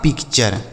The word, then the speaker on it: picture: PICTURE तो PIC से हो गया पिक और TURE को पढ़ेंगे चर, यह लिखा आपका पिक्चर, समझ आया।